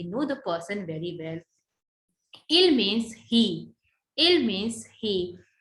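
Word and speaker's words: ils: S is silent, so we never pronounce this.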